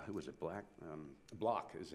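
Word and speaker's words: Blach: Block is how you pronounce it.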